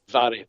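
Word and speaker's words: Mhairi: and I believe that's Mary, correct? Is that how you pronounce it? It's Vary. It's Vary. Vary. Okay. Vary. MH in the Gaelic is pronounced V.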